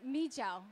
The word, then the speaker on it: mijo: So this is pronounced mijo. Mijo is a rice wine, and mi means rice, and jo means like wine or spirit.